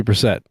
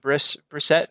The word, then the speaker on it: Brissett: So it'll be very interesting to see what Brissett, is that how you say it? Brissett? That's how I've heard it pronounced, Yeah, Brissett.